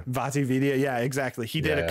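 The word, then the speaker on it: VaatiVidya: Vati Vidya.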